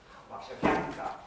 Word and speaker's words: Warszawianka: Warszawianka. With again the penultimate syllable.